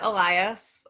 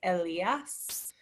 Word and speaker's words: Elias: uh so another another great question uh i pronounce it elias i think the technically correct way is to say like elias which maybe your daughter can do if she's